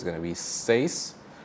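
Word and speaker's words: seis: you might have really CS but really the pronunciation is safe right so remember in Spanish the vowels don't change and the order is important so we have s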